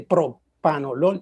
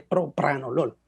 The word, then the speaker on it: propranolol: Así debería ser, así como cuando antes hablábamos de propanolol y es propranolol, así, algo similar.